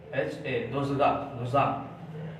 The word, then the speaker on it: Dzongkha: मैं लिख देता हूँ, थोड़ा नाम प्रोनाउंसिएशन बड़ा अजीब है, DZONGKHA, दोजांग।